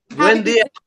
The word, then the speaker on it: buen día: Buen día. Buen día. Say that again, Ms. Miller. Buen día. Buen día. Very, that's like Buenos Dias. Yes, yes, but just buen without the O.